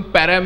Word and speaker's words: परम: खूप छान शब्द आहे त्याचा स्पेलिंग सेमच आहे आणि त्याचा उच्चार फक्त परम केला पाहिजे म्हणून त्याचं नाव परम